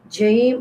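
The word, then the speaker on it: جيم: This jim pronounced from the middle part of the tongue and touching the middle part of the palate up to the mouth.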